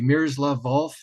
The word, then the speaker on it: Miroslav Volf: I'm hoping I'm pronouncing his name correctly, Miroslav Volf at Yale, You pronounced it correctly, yes.